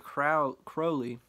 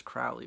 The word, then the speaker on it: Crowley: into but studying Aleister Crowley I once thought it was Crowley but the Brits say Crowley and that [ __